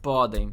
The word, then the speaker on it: podem: The accent is on the first part. Podem.